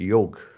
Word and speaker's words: yoga: same times you know Yoga is much more beyond that in fact I'm mispronouncing it's not yoga it's a yoke okay long not long a at the end yoke and it Sanskrit words